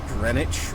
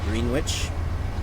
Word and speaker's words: Greenwich: are coming up on Greenwich or Greenwich some places have Spanish some places it's Greenwich in Rhode Island we had East Greenwich it was spelled Greenwich but we pronounced a Greenwich for whatever reason anyways we're coming up